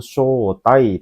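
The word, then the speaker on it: 招待: hai, yombang desu ne, yaitu shotai, panjang shonya ya, shotai desu ne. Apa artinya shotai? Ada yang tahu minasang shotai? Ya, mengundang desu ne. Shotai itu mengundang. Jadi kalau diartikan tomodachi o shotai shimasu, saya mengundang teman desu ne.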